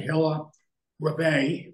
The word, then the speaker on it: Hilla Rebay: Edgar Hoover, Clyde Tolson, Hilla Rebay, is how you say it.